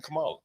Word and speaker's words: Kamala: How are you supposed to pronounce her name? Kamala.